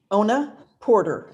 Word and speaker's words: Ona Porter: State your full name for the record and spell it please Ona Porter o-n-a-p-o-r-t-e-r could you state your title I'm the